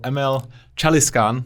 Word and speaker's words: Emel Çalışkan: All the way from Turkye, I have the wonderful Emel Çalışkan. Do I pronounce that correctly?